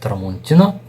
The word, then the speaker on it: Tramontina: I believe, you can correct me if I'm wrong, it's pronounced Tramontina, and it's a Brazilian company.